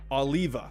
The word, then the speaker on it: Oliva: oliv i can't talk what how do you pronounce this oliva there we go oliva and how do you